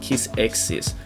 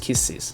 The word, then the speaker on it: Kiss x Sis: lot of people say kiss X's but the x is silent so it's just kisses anywayss the majority of